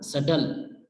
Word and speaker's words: subtle: इसी तरह से डेट और सटल, इनमें बी साइलेंट है, तो DET बना डेट और SUBTLE बना सटल।